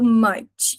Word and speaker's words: much: E cuidado com a pronúncia do much. Parece que a gente levou um soco no estômago e a gente faz OK? M m M how much. E esse ch é a hora da gente brilhar num t do tchau como se tivesse freando um caminhão.